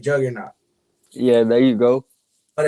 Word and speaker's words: Juqqrnaught: I'm hoping I'm saying this right, Juggernaut. Yeah, there you go. But it's spelled JUQQRNAUGHT.